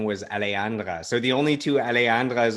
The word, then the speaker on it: Alejandra: is it's alejandro sometimes people call me alejandro because they they it is confusing the name